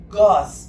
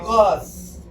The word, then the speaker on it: Gorz: André Gorz, G-O-R-Z. André Gorz.